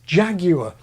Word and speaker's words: jaguar: funny even bizarre that Brits nativized jaguar and Nicaragua pronouncing them along the lines of coagulate and Brits can be